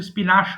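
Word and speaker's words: spinach: এরপরে স্পিনিশ, দেখো উচ্চারণটা কিন্তু এখানে মনে হচ্ছে স্পিনাশ হবে। এটা কিন্তু উচ্চারণ হবে স্পিনিশ, পালং শাক।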